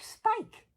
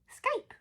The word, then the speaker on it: Skype: Oh, is it spike? Skype. Ah, it sounds like a small Scandinavian fish. Oh, do have some Skype, yes.